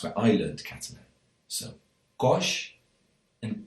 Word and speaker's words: coix: However, in this part of the País Valencià, near Castelló, a lot of people say cois and caixa.